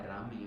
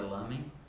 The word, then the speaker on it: ramen: No Japão é ramen, aqui no Brasil a gente aportuguesou, colocou, se pronuncia lamen.